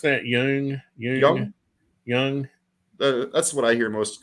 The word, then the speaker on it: Jung: How do you pronounce that? Jung.